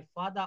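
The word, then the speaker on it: father: দেখেন, লক্ষ্য করুন এখানে ফাদার শব্দটি শেষে আর আছে, এবং পরের শব্দটি ওয়াজ, যেটির প্রথমে ডাব্লিউ রয়েছে, কনসোনেন্ট রয়েছে। তো এখানে ফাদারের শেষে আর এর উচ্চারণ হবে না।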